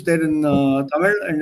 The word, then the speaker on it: Tamil: But that L at the end is not pronounced correctly. This is the English spelling here, Buchstabierung. If you want to pronounce or try to pronounce what is there in that language, the way it's pronounced, it's called Tamil. L. That L sound doesn't exist in English.